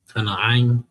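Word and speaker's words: כנען: K. You got a na. Kana'ain. You got an I. And you got another na. Ka. Na. Ain.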